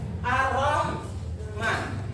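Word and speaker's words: الرحمن: salah satu huruf setelahnya contohnya Ini Arrahman ada alif lam bertemu dengan huruf huruf apa n Arrahman huruf ro ya kan bertemu huruf Ro Jadi bacanya dileburkan Arrahman Alif lamnya Hi hilang ya Arrahman dibaca Arrahman salah satu tandanya ada tasdid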